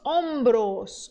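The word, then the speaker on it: hombros: hta aqui também asta los ombros ombros ombros quer dizer ombro mesmo e sim se escreve com h também me escandalize quando descobri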